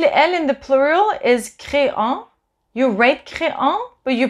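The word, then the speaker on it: créent: So il, elle in the plural is créant. You write créant, but you pronounce crée. The en at the end is not pronounced, the ent.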